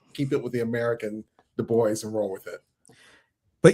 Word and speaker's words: Du Bois: Pronunciation is Du Bois.